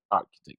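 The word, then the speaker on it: Artchitect: Yeah, Architect. You pronounce it like nobody. It's just a spelling that's different. Like the number Architect, right? It's ART, like the art, and then the CHITECT.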